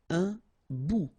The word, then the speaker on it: bout: Un bout. Remember, final T not pronounced. Un bout.